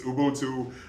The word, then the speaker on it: Ubuntu: spell it out here I put the pronunciation up here it's not like addiction to what you would find find in in Webster's Dictionary but it's Ubuntu uh it's a a